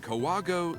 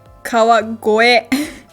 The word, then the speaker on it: Kawagoe: i was born in kawago saitama no kawagoe like each two letters uh usually is a syllable if there's like a